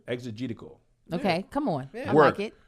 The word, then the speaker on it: exegetical: pronounce take your time e-x it's like exegete the text exegetical okay come on work